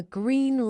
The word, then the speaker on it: green: The pilot was given the green light to take off. To pronounce this naturally, make sure you use your lips pushed forward for green.